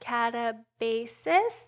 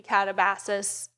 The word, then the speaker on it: Katabasis: Okay, so now we're on to her most re recent release, which I believe is pronounced katabasis, though it could be Catabasis. I'm not sure.